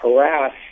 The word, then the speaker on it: harass: fact 35 of the panel last year considered harris to be incorrect uh and that goes to show how in a relatively short period of time uh how the pendulum has swung for this term and it's anecdotally one does hear uh harass much more commonly on the news nowadays than uh harris yes well i always